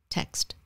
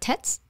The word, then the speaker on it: text: you say that word text text pronounce all the letters text don't find the text and not tets text can i ask a